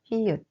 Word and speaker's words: 히읗: The pronunciation of this consonant is the same as aspirated H in English.